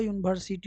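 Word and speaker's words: university: यूनिवर्सिटी यू पर मत जाइएगा, ए ई आई ओ यू पर नहीं है, इसको उच्चारण पर हम लोग डिपेंड करते हैं।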